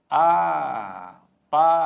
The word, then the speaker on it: apaziguo: Então, apaziguo, sílaba tônica, só deixa eu marcar aqui que é bem no U.